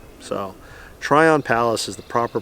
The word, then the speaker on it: Tryon Palace: here do yourself a favor and go visit tyrone palace it's i actually maybe i'm mispronouncing it's try on try on palace like so try on palace is the proper pronunciation i do apologize again